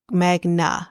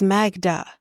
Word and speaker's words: Magda: say his girlfriend's name he says mag Magna Magna not magma Magna it's Magda it's not really hard it's not a hard name to say now maybe